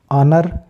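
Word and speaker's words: honor: silent हो जाएगा ईमानदार ऑनर यहां पे भी एच साइलेंट हो रहा है क्योंकि ओ के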